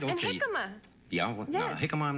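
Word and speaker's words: jícama: Hikma. Yeah. Hikma. I'm not It's spelled with a J. Okay. It looks like Chikima, but So, why don't you get the crude?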